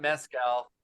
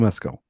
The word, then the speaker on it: Mescal: He's not mezcal. He's not fake tequila. Paul Mescal. It's just that's mescal. what always trips me up. It trips me up. Just mescal.